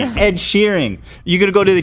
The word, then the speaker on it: Sheeran: What is his name? Sheeran? Shearing? How do you say it, you guys? Sheeran, yeah. Sheeran? Yeah, Sheeran? Shearing. It's not really that funny. Sheeran. There's an A. So, Sheeran?